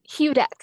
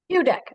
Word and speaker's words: Hudek: Oh, how do you say it? Hudek. Hudek, okay.